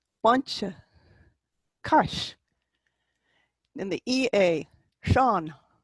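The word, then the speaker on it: Seán: In the EA, Sean, you're reaching for the broad A, not the E in front of it.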